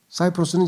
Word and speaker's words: 사이프러스: 요즘에는 키프로스라고 하는데 왜냐하면 C라고 하는 영어 철자가 라틴어로 읽으면 K로 발음해서 키프로스라 그래요. 그래서 여러분 황제를 뭐라 그래요? 로마 황제를 카이사르라 그러잖아요. 카이사르. 그런데 영어로는 시저라 그래. 시저. 왜냐면 영어는 C를 S로 발음을 해야 돼. 그래서 사이프러스가 돼요.